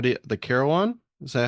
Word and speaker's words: carillon: you were talking about with how do the carolan is that how you pronounce it correctly right yes yes the carolan so it's a bell tower if you want